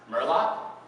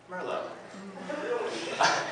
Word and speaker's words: merlot: in my life that what i thought was pronounced murloc it's actually pronounced merlot i'm so naive when